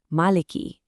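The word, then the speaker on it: مَالِكِ: So the correct way is actually maliki, with a clear ki sound at the end.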